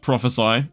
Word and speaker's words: prophesy: I say prophesy because it's spelled ESY instead of prophecy. I looked it up because I'm illiterate, and it's pronounced prophesy, and this is kind of similar to prophecy, but it's like the action of speaking a prophecy, I guess.